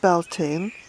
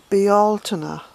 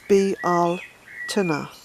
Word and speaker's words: Bealtaine: ancient spelling of the Altima and it's not pronounced Bell teens it's actually pronounced be Altoona so it's be al Timur and not that that matters too much to